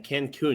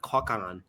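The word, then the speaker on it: Cancún: Well, my number six is that it's spelled C an N. Cancun, not Coakan.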